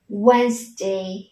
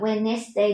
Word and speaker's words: Wednesday: Ok, thế thì chúng ta sẽ đọc là Wednesday, không đọc là Wednesday đúng nhá, không có từ nest ở đây đúng không nào các con?